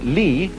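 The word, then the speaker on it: 理: wood, or the fiber in muscle, and it's pronounced li.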